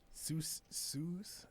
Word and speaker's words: sous: Sous chef shoe theft.